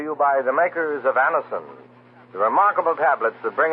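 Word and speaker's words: Anacin: This program is brought to you by the makers of Anison, the remarkable tablets that bring incredibly fast and effective relief from the pain of headaches, neuritis, and neuralgia.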